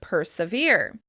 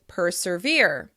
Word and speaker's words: persevere: You can also hear this insertion of /r/ in the word "persevere," which is often pronounced as "perservere, perservere."